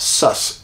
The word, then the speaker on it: Sasquatch: know these creatures as Sasquatch they pronounce that sus s-u-s hold your taters for